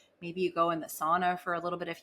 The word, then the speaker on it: sauna: locations cold therapy in SAA as I've been corrected by some Finnish ladies in my DMs on Instagram she's like comes in a voice note you're saying it wrong it's sauna but they're like super